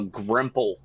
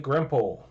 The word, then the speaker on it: grimple: to the dude uh grimple it is what a gremlin lice infested hairless awesome looking creature right here how do you spell that grimple g-r-i-m-p-l-e foreign like pimple but Grandpa a grandpa right the